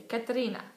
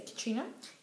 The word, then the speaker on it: Katerina: Because they're Russian, so my sister likes to say Katerina. Katerina, exactly. That's how you're supposed to pronounce the Russian name. I can't pronounce it like that, so I'm just going to say Katrina.